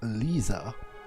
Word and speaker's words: Lissa: time the name is lisa she pronounced she pronounced it lisa it's it's not really